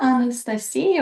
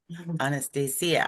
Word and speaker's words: Anastasia: Did I pronounce that right? Anastasia. Yeah, Anastasia. Anastasia. Anastasia.